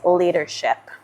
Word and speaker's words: leadership: All right, and the following word, and this word I love, is leadership. And if you pronounce it like a native, it would be as, like the D is almost like an R, like the leadership, right?